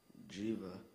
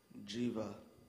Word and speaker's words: jiva: the vital energy of life used in hinduism jiva are there any ultimate pronunciations none jiva jiva j i v a jiva hrab mireb